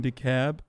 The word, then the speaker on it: DeKalb: closer than in georgia don't pronounce the ellen dekalb okay sorry are are our